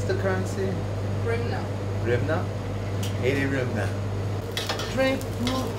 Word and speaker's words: Hryvnia: How do you pronounce the currency? Rimna.